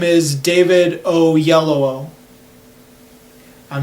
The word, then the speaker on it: Oyelowo: Yeah, I looked up a video of him pronouncing it. The actor's name is David Oyelowo.